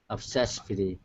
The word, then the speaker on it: obsessively: So yeah, what you want to make sure though, is that instead of pronouncing an F like Frank, it's V. It's a vibration. Okay, V is a voiced sound.